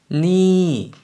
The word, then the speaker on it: นี่: 이번에는 지시 대명사가 되면서 발음이 이성으로 바뀌었습니다. 그래서 니라고 올렸다가 내려주시면 되고요.